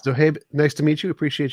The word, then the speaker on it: Zohaib: Zohaib, is that how you pronounce your name? Zohaib. I mean, Zohaib? not Habe. Zohaib, yes. Zohaib, nice to meet you.